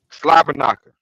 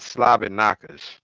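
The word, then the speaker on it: slobberknocker: the one that's heard slobber knocka not slob knockers slobber knocker knockers that's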